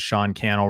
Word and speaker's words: Sean Cannell: meeting my name is Sean Cannell rhymes with YouTube channel and I wrote a